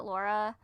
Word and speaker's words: Lara: looking and it's actually Lara but I pronounce it Laura uh because that's how it's pronounced in the game cuz she's British and so she says